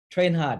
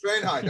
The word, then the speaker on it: Thraenhart: name his last name is definitely not German trenard how do you pronounce it trh hard yes trh hard okay it's German yes he's a German in